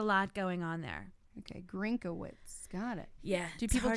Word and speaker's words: Grinkawitz: let's talk about the pronunciation of your last name. Grinkawitz. Grinkawitz. You have a lot of extraneous letters in your last name to get Grinkawitz.